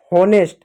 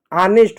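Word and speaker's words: honest: होनेस्ट गलत होता है। ऑनेस्ट होता है। ऑनेस्ट होता है। एच साइलेंट होता है।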